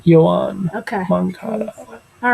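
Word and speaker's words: Yoán: How do you pronounce his first name? Yohan Okay.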